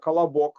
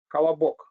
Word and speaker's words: Колобок: And in Russia, we had a book, Kolobok. You remember? Who knows Kolobok book? Raise your hand. Kolobok.